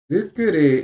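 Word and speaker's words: づくり: So, as a suffix, it becomes zu because it's the pronounced version of it. Okay, instead of tsu.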